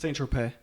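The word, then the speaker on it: Saint-Tropez: Saint Tropez.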